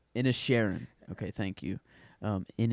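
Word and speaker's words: Inisherin: banshees of bans oh I said it wrong in a Sharon okay thank you um in a Sharon but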